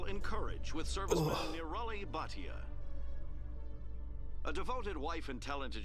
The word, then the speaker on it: Bhatia: Bhatia. For more profiles in courage or to explore opportunities, you didn't say it right. It's Bhatia.